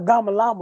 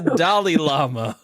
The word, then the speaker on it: Dalai Lama: I didn't know the fuck a Dama Lama was. You still don't. Well, you say it like this. It's the Dalai Lama.